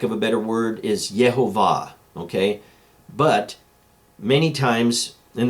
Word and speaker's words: Yehovah: However it's in there, he was able to find it 50 different times as Yehovah, not Yahweh, not anything else, not even a corrected way of saying it than Yehovah.